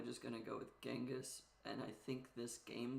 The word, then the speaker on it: Genghis: books in genas kan's name does start with a c or a g so chasan genas con either one is technically correct in English pronunciation I'm probably just going to go with genas and I think this